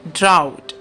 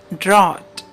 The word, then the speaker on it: drought: Mostly people call this word drought. It is incorrect. The correct pronunciation is drought.